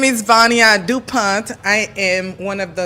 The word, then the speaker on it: Vania Dupont: to Shonda oh man we making it but near do Point am I pronouncing it right yeah so please tell people